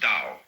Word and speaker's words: Dao: decide how it's pronounced we should have spelled it D you see but it's